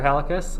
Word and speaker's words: Halekas: on hey i'm professor halicus um congratulations you pronounced both my first and last name correctly which no one ever does oh i'm flattered it's